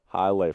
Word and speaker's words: Hialeah: I believe that's how you pronounce it. Hialeah, Florida.